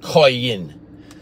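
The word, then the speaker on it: קין: so she bore who Cain and Cain is pronounced in Hebrew it has the q-a-y-a-8 or q-a-y-i-n koi in so when she spoke q a n a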